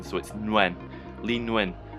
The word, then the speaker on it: Nguyen: this guy's name and I believe it when pronounced when with an N at the beginning Switzerland went Lee Nguyen it's a viet he's